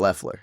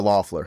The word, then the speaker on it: Loeffler: guy on the staff in Scott Loeffler, or Loeffler, however you correctly pronounce his name. I think it's Loeffler. But he doesn't have experience calling plays at the NFL level.